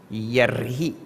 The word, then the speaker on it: yarhi: If you have this book, there is a misprint there. Pronounce that. Yarhi. You're supposed to be yar. Yar, the ref is missing.